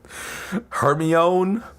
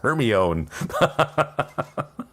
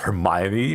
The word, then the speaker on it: Hermione: a great one because people didn't know how to pronounce Hermione. So, it was just Hermione. Like, oh my god. I remember when the first book came out, none of my friends knew how to pronounce it because we weren't British, right? It was just her own.